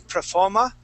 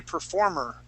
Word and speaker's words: performer: Instead of saying performer and using more of an sound here, I would say performer.